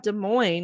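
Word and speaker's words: Des Moines: prettier well then we also have De Moine which is spelled like desm modes so at least we do that one right you guys are weird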